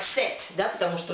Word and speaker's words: cet: Ну, она читаться как будет, да, то есть будет всегда читаться как «set», да, потому что у